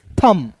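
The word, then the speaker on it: thumb: फिर देखिए एम और बी एक साथ है तो यहां पे बी साइलेंट करेंगे तो एम का क्या हो जाएगा म तो टी एच का दोस्तों थ और एम का हो जाएगा म तो क्या पढ़ेंगे थंब टी एच यू एम बी को थुंब नहीं थम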